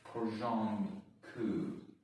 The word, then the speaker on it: porządku: Anyways, porządku. Oh, you don't pronounce the R, okay.